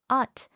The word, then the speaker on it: 옷: So even though it's spelled with, the word for clothes is pronounced ot, and the word for light is pronounced bit.